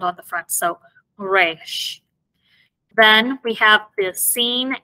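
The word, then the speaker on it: ריש: Then we have the resh. And this, it makes the R sound, but not like the R in English.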